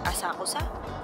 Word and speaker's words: Asakusa: How do you pronounce it? Asakusa. Asakusa.